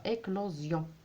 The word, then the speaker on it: éclosion: Puis vous avez finalement l'ajout du suffixe sion, mais qu'on prononce zion avec un Z, éclore, éclosion. Donc là, puisqu'il y a la rencontre de deux voyelles, donc le S se prononce un Z.